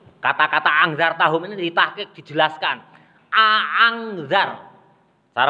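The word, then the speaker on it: أأنذرتهم: Hamzataini, membaca kedua hamzahnya. A'angzar. Cara pertama. Itu disebut cara hafaz. Orang Indonesia, Imam Hafaz itu membacanya a'angzar. Itu tahqiq namanya, dibaca jelas ya.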